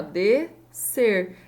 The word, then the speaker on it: descer: Também, ó, descer. É como se eu não tivesse esse som de S aqui, né? Um som, dois sons, né?